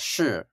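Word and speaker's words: 势: Yeah, so this idea, and I'm going to pronounce it in the Chinese, but it's shi, and it is a difficult term to translate.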